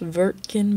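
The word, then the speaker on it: Wirtgen: your virgin group logo it's pronounced vertkin because they are german you have another tiny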